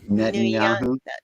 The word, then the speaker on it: Netanyahu: He's a Yahoo. Netanyahu. Netanyahu. If you remember Yahoo, you got the rest of it.